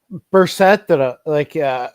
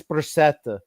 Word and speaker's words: Brissette: These guys are like Brissett, Brissett. I forget how you guys say his name. Anyways, it's Brissett. No, it's French. It's Brissette.